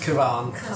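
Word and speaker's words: Kavan: I originally read R. Kavahn. Cabin. Kavahn. Yeah, but it's Kavahn. pronounced Kavahn.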